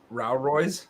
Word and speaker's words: Rao Royce: NOC a program with Rao Royce Rao Royce yeah rhymes with that you need oh no